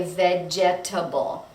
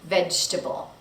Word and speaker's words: vegetable: The next one is the word vegetable, and this word is a little bit tricky because the second syllable is dropped. Vegetable. We don't say vegetable. We say vegetable.